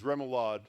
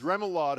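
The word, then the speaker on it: remoulade: say, I know on the whole list is Remalad. Salad or seafood dressing made with I didn't know this. Hard-boiled egg yolks, oil, and vinegar, and flavored with mustard, capers, and herbs. Remlad.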